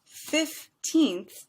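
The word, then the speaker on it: fifteenth: tell the difference well the difference when you're speaking is really with syllables and length so 15th only has two units of sound two syllables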